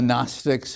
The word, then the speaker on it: Gnostic: Very often you hear the term Gnosticism and the Gnostics. It's spelled Gnostic, but don't pronounce it that way. It comes from the Greek term gnosis. There you can use the hard G, gnosis, which means knowledge.